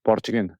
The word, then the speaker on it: Borjgin: Is it Borchgin? Yes, in Mongolian it's Borchgin, so correct, yeah.